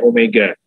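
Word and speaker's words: ω: ini massa kali Omega ini bukan W bacanya Omega Kalau anda baca w benar saya dengarkan tapi sesungguhnya Omega ya dari masa kali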